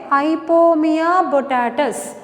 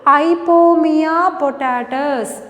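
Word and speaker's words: Ipomoea batatas: I will pronounce it again. Ipomea botatus, commonly called sweet potato. What is the scientific name? I will pronounce it again. Listen carefully. Ipomea botatus.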